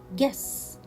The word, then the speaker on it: guess: the last word is guess yes so here i will not pronounce letter u and i will read